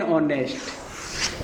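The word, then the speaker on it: honest: एन, एन ऑनेस्ट। ये exception है एक, ये भी आपको एक्सेप्शन टाइप बता दूं, इसमें एच क्या रहता है? साइलेंट।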